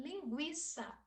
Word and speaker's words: linguiça: próximo de nós e linguiça antes do novo acordo ortográfico a gente tinha se trema em cima da palavra esses dois pinguinhos em cima do um na pronunciarmos justamente o linguiça hoje esse tema não